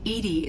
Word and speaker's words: EDI: why are you named Edie Edie is the phonetic pronunciation of EDI that is an acronym for enhanced defense intelligence how are you getting along with Joker mr.